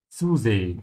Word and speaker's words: zusehen: And always remember that the Z sound in German sounds like TS. So you have to have a T sound first.